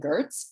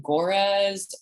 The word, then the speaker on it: Goerz: head not beautiful so my name is pronounced gertz as opposed to gorez or gilligan gurs which are things i have heard so but you can